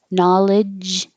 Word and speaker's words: knowledge: or you might have that extra sound so knowledge you're stopping the airflow like a j but